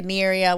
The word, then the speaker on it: Aniria: Listen, when I was a kid, it was because in English people would say Aniria, which I was fine with, but then it rhymes with diarrhea and gonorrhea.